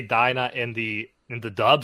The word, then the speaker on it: Dina: like we could say dinah i used to say dina but they say dinah in the in the